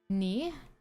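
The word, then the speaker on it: ニ: Ni. This is also, it's very funny. This is identical to the kanji for 2, and it also is pronounced exactly the same.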